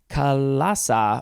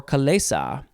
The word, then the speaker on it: chalaza: We are moving on to Kalasa or Kalesa. It is spelled Chalaza. Kalesa.